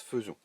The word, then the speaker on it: faisons: Attention à faisons, puisqu'il s'écrit faisons, et pourtant il se prononce faisons.